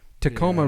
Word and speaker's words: Tacoma: But Tacoma Yeah. rhymes with aroma, and there's a reason, and it's because it has an aroma Tacoma and rhymes it with aroma.